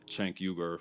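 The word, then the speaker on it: Cenk Uygur: This one's about the network itself, specifically their leaders, Chanker. That's how the founder of TYT, Chank Yuger, pronounces his name, by the way.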